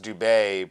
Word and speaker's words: Dube: well with my last my last name is DB which is pronounced Dube but you know my entire life everyone said do be and finally I'm in